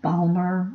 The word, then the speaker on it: Balmer: series is visible and that Balmer rhymes with Palmer and Mr Palmer is